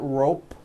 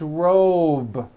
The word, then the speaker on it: robe: ending same thing with robe also has a voiced B ending it's not rope with an unvoiced P it's robe okay let's go over these